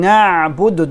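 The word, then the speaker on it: نَعْبُدُ: Very important to pronounce the ayn. Na'budu. Don't say na'budu. Na'budu, you put hamza. Na'budu should be na'budu.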